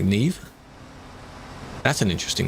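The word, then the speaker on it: Niamh: There is another name that I'm aware of where it is Neve, I think, but it's like N-I-A-M-H. But it's pronounced like Neve.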